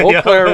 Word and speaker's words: Eau Claire: He said he was coming to Eau Claire, Wisconsin. Oh, Eau Claire. I said it wrong, didn't I? Eau Claire, Wisconsin.